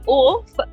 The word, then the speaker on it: OAFF: are butchering it so it's OAF, that's my name. It comes from the English word of which means silly, awkward person and I related to